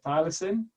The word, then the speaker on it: thylacine: obviously are oh, how do you say it, thylacine?